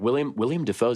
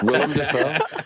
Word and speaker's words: Willem Dafoe: But yeah, like William Dafoe definitely looks older now too. So like Willem. I'm tired of you mispronouncing everyone's Willem? name on this damn show. Willem Dafoe.